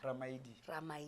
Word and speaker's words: Ramaili: Yeah, you know, so we don't have the letter D. Yeah, the letter D. So L-I is pronounced D, so Ramaili. Yeah, that's the right way to say it, but South Africans always say Ramaili or Ramaili.